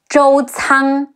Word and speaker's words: Zhou Cang: Some other notable characters include Xu Shu, Xi Yu Xu, Shi Wu Shu, Xu Shu, Zhou Cang, Zhi Ou Zhou, Ci Ang Cang, Zhou Cang, Jiang Wei, Ji Yi